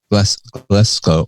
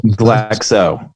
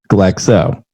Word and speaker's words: Glexo: There's no C in Glexo. Glexco. Glexo. Not Glexco. Glexo.